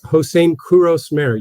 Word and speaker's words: Hosein Kouros-Mehr: And and it's Hosein Kouros-Mehr. You're definitely not the first to mispronounce it, but great to be on the show.